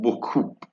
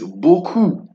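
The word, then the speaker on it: beaucoup: no no no no no it is not book it is buku boo KU Bo o then we have and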